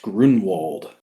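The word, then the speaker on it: Gruenwald: flesh later maybe but I've always heard it pronounced Grunwald uh hmm just funky uh the book was Quasar wow Quasar number seven that's number 17.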